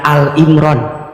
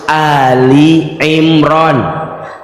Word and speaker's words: Ali Imran: Kalau maca Ali Imran jangan Al Imran. Bacanya harus Ali Imran. Karena yang dibahas di situ maknanya keluarga Imran. Kalau Ali Imran hanya Imran sendirian. Tapi kalau Ali Imran maknanya keluarga Imron.